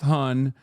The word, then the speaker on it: hon: It's pronounced hun, but it's spelled Han. H O N. And uh it's it's like um hun like hun.